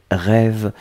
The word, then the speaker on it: rêve: L'autre chose, c'était un substantif et c'était rêve. Rêve, donc ici on le met au pluriel, là encore avec un magnifique accent circonflexe que l'on prononce, donc on doit le garder.